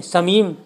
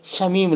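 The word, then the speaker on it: شمیم: हाँ, अक्सर लोग बोलते हैं समीम, समीम कहाँ जा रहे हो तुम, समीम क्या कर रहे हो, तो समीम नहीं है प्यारो, ये है शमीम लफ्ज़, ये इसकी सही इमला है।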